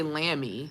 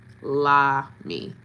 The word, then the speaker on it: Lamy: I don't want to say Lammy. Is it Lammy? Lamy? I want to make sure I'm pronouncing it right.